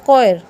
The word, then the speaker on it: choir: ये क्या बोला जाएगा, H साइलेंट कर देंगे। ये होता है कोयर।